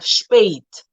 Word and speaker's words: spät: Okay, so we have Äpfel, Männer, Universität, Identität, and then at other times it sounds like like the A in day, for example. So we have spät.